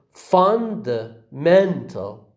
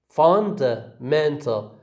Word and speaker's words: fundamental: other examples as well the word fundamental it is again has got it has again got two stresses one is on the four on the fun and the other is on the uh the syllable men so we say fundamental fundamental